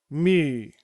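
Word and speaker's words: μῦ: And our final letter is mi. Mi pronounced m.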